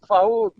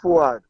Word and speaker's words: Fuad: Then I look up the word Faoud, but they say it's a mispronunciation of Fuad.